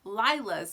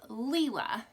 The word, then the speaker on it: Lila: i've heard um has referred to this designer as lila's studio but um abby from abi bella stitch actually reached out and asked her how do you say your name and found out that it is leela so this is coffee